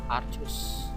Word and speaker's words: arcus: arcus Arc Sin X jadi Arc itu dibacanya arcus ya jadi di sini